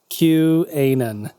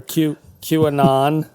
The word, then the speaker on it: QAnon: your guys' opinion on Q-Anon, or Q-Anon, I guess is Anon, like anonymous. as it's pronounced in some circles.